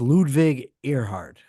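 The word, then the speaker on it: Ludwig Erhard: so who was Ludwig I think it's pronounced ludvig earheart who is that yeah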